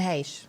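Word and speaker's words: Heche: do you say that is it h or hake say it real fast and we'll all believe you and haysh yeah there you go yeah and you go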